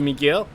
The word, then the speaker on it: Miguel: By the way, in Spain, the U in my name is silent. So Miguel.